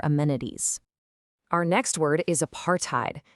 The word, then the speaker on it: apartheid: Our next word is apartheid, pronounced apart, height.